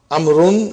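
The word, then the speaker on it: عمرو: as you can see the proper name amaroon is written with wall which is not pronounced this is done to differentiate it from umar the vow is however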